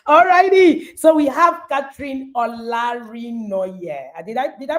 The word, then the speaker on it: Olarinoye: So we have Catherine Olarinoye. Did I pronounce that?